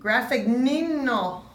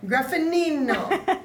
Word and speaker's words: Graffagnino: Well, we have today our fashion expert, Graffagnino. Yes. Did I say it correctly? Yes. Graffanino. Graffagnino.